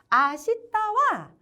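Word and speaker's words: 明日: 그래서 아시다라고 읽어주셔야 돼요. 읽는 방법이 조금 까다롭지만 몇 개 안 되는 불규칙이니까 몇 번 읽으시다 보면 입에 금방 붙습니다. 아시다와 헤이지즈대와 아리마생이라고 되어 있는데요.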